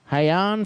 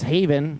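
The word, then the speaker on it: Hayn: It is Haven is the pronunciation. Haven. Yeah, Haven. cuz they have uh h a yn.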